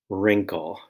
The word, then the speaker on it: wrinkle: also spelled MB and the r sound in wrinkle is spelled w r second line ala